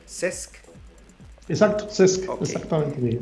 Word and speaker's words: CESC: ¿Es correcta mi pronunciación? CESC.